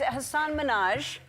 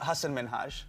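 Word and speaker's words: Hasan Minhaj: And it's Hassan Minaj. Yes. No. Really? Well, my name is Hassan Minhage.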